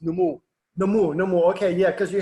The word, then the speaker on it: Nomuo: Yeah, it's pronounced Nomuo.